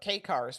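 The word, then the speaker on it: kei car: It's interesting because President Trump was talking about K cars, which is spelled KEI, not the letter K, or Chrysler K cars.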